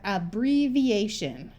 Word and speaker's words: abbreviation: before the prefix shun so we have abbreviation this I has the long e sound because it's before another